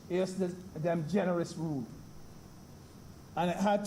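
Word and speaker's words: ejusdem: s d e m it us pronounced like if the j was an age yes them generous rule and it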